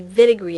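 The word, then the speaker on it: Wittig: nucleophile is called a vinegary agent and this is German so it's pronounced the w pronounced like a V and before we can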